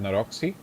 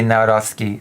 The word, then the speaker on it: Nawrocki: He didn't say Nawrocki. Nawrocki. See an S anywhere in the name. Oh my god. Also learn how to pronounce the names and surnames before coverage, okay? That's my advice number 2. I would just read it as Naroki.